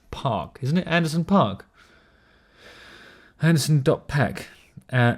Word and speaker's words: Paak: about the bruno mars anderson park or pac how do you say it pack but it's p-a-a-k park i present to you park isn't it anderson park